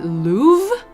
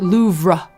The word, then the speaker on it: Louvre: I will say, I think it's really funny that Americans pronounce it louv and British people pronounce it loura. When I was studying in the UK and I we were like comparing notes on various American versus British pronunciations, the first time they heard me say, "I'm visiting I'm hoping to visit the Louvre."